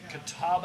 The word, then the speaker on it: Catawba: And you Catawamba. call like somebody and say, well, what's your address? Catawamba. It's Catawba Avenue, and they go, I don't can see you anything.